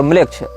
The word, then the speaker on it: Melech: ANAMMLECH या इसी प्रकार की कोई स्पेलिंग आप टाइप करेंगे, अनाम ANAM और म्लेच्छ। इसमें म्लेच्छ जो है वो हमारा वाला म्लेच्छ नहीं है, मेलेच्छ, मेलेच्छ शब्द जैसा है, MELECH इस प्रकार से।